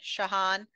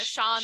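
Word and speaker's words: Shaan: man his assistant man shahan I've been pronouncing it Sean all the time he's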